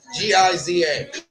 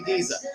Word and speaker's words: Giza: I was like, "Yep, it's definitely Giza." I told you I don't think it has a click at the beginning, but it definitely has a Z sound at the end.